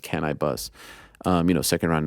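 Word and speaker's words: Canibus: I was a big cannabis fan back in the day or is it can I bus I think it's actually pronounced can I bus um you know second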